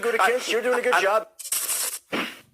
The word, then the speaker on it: Gutekunst: It's Gutekunst. I mean, how do you pronounce it? Because they're very sensitive to the pronunciation of their name. Gutekunst, you're doing a good job.